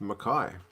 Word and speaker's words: McKay: i found out that josh makai is pronounced makai thank you man i've always confused it is it makai or is it mckay it's written mckay but i guess makai that works abs view france 2015